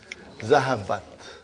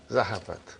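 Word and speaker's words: ذهبت: How do you pronounce it? Zahabat. Zahabat.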